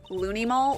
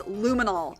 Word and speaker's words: luminol: Lunimol? What's Lunimol? It's luminol. Get it right.